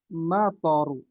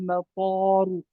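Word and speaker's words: مَطَر: Kita ingin mengatakan ya turun hujan ya turun hujan berarti nazal lal matoru nazal matoru ya. Hujan turun ya. Hujan turun ya. Jangan kita mengatakan dengan thnya yang panjang. Nazalal mataru ya.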